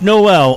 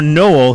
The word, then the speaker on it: Noel: week's special guest, Josh Noel, or Noel. He never confirmed that either pronunciation was correct. He just said either one works. Yeah, he said both are fine.